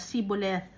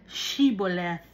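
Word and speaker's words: shibboleth: pag ang eephraim naman epephremites ang pagpo-pronoun sila siboleth wala silang h naintindihan ba ninyo Ang pagpo-pronounce shiboleth pero yung pagsasalita ng mga epheremites siboleth.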